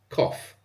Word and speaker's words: cough: take the example of the word cough c o u g h is pronounced like k f cof write them down as